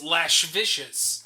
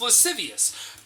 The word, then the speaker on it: lascivious: it in books and if you see the word written it looks like liz vicious i always pronounce it as my head in my head as lash vicious yep yeah but no it's apparently pronounced lascivious anyway you know what's